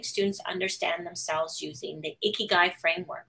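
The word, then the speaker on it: 生き甲斐: the ikigai framework it's a japanese word that roughly means your reason for being right and it's pronounced ikigai and one's ikigai is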